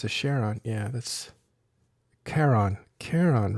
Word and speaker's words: Charon: and that's a K sound, and it's actually Charon, to be honest. Is that a very famous shield logistic ship pronounced the way that Shadu would want us to pronounce it?